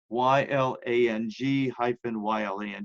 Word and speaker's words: ylang ylang: up its if I remember it's spelled though y la ng - y la ng it's pronounced ylang ylang and cedarwood those are really